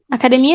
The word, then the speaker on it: academia: Academia is gym. Academia. This is the strongest syllable. Mia.